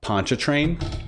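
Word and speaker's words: Pontchartrain: So, it's, by the way, it's pronounced um Poncha Train.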